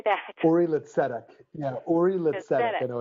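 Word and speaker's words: Uri L'Tzedek: Uri Litzedek.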